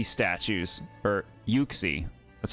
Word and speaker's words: Yuxie: I see Oxy statues or Yuxie.